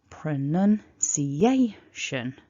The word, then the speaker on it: pronunciation: So pronunciation. A needs to be the biggest.